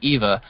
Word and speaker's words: Iva: Z I'm sorry Eva you pronounce it Eva but it's actually I